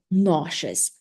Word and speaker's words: nauseous: We call it nauseous. Let's repeat. Nauseous. After students repeat, I write it. Mhm. What is the stress syllable here? And the students tell me that it's the first.